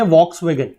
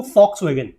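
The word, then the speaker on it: Volkswagen: का नाम है, दैट इज, इसको लिखते हैं वॉक्सवैगन। ठीक है, इसकी स्पेलिंग स्टार्ट होती है वी से, बोलते हैं वॉक्सवैगन, मतलब लिखते हैं फॉक्सवैगन लेकिन बोलते हैं इसको फॉक्सवैगन।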